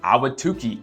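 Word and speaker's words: Ahwatukee: right now number six is going to be awatuki AWA to Chi if you can spell it right I'll give you a a big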